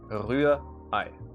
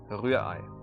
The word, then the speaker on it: Rührei: Now, the second R in this word, the R, is almost not pronounced. It's kind of like in the English language, like the British English, you would say Rührei.